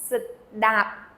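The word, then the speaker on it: ស្តាប់: To listen, that word is sedap. Sedap. So you have an S first, and then da, and it ends again with a P, which is not pronounced.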